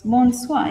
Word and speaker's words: bonsoir: It's bonsoir, yes.